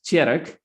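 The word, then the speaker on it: Tjerk: that you hear and my dutch name is terek but it's very hard to pronounce here in australia i discovered that after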